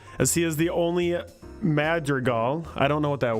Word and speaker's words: Madrigal: earlier in the story that's that's on me major goal major eagle is that my pronouncing writer is a Madrigal Madrigal or Madrigal made the recall madrigo mad Regal Madrigal okay got it madrigo Belle Antonio called Shiley